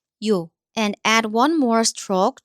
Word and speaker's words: 요: And one more short strokes again. It gives yes sound. So this one, O becomes 요.